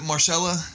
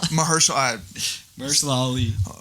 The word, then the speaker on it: Mahershala Ali: comments, the top comment, it said, was it Marshalla? Is that how you pronounce it? Mahershala Ali.